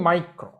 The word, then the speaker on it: micro: Okay, symbol එක අපි pronounce කරන්නේ micro.